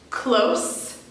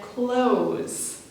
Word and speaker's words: close: we couldn't close it here we have the pattern in pairs close and close the first hetero name in this sentence is the adjective close we use the adjective